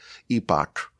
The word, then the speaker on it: epoch: It already has to begin the next epoch. It's actually pronounced epic.